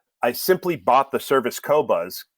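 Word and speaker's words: Qobuz: simply bought the service cobuzz q o b u z no one pronounces it right because from France and it's like they don't use a u after the queue and I and I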